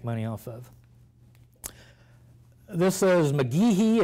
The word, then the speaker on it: McGeehee: This is McGeehee. It's spelled M-C-G-E-H-E-E.